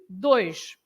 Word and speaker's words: dois: And for example, you have the word two, dois. Dois, right? So when you have this oi, it's always oi. So dois, right?